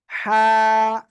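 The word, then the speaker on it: ح: এই অক্ষরটা কি অক্ষর হা কি অক্ষর এটা হা কোন জায়গা থেকে উচ্চারণ হবে গলার মধ্যে চেপে আমরা উচ্চারণ করব ঠিক আছে হা এক আলিফ টান হবে সবাই বলেন মাশাআল্লাহ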